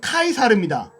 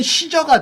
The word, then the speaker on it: 카이사르: 스펠링이 있는 방식의 차이인데요 가이사르 지금 성경은 가히사라고 되어 있지만 다르게 막 카이사르입니다 카이사라니까 알겠죠 또 카이사르를 미국 방식으로 읽으면 시저가 돼요 아시겠습니까 시저가 카이사르고 카이사르가 시작하고 시저가 가이사예요 이해가 되십니까 로마의 황제를